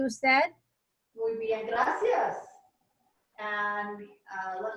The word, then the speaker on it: usted: ¿Y usted? Yes. I should have said this. The U is pronounced as a double O.